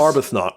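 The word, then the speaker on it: Arbuthnot: But if I pronounce the surname wrongly, I'm pretty sure about the first name. John Arbathnot. If I butchered that, give me a shout. John Arbathnot. Okay. Yes. Arbnot.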